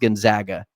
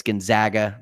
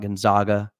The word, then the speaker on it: Gonzaga: Uh, and it's pronounced Gonzaga, Jake. Some people call me. not. It's Gonzaga, not Gonzaga. Just so we're clear.